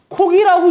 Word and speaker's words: 살코기: 근데 우리가 보통 어떻게 발음하고 어떻게 적어요? 암탉이라고 얘기하죠. 그 다음에 살코기라고 이렇게 얘기를 해요.